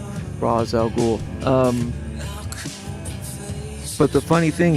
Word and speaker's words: Rosz al Ghul: Um, and it also helps phonetically uh for people to know how to pronounce Raz R O S Raz al Ghoul.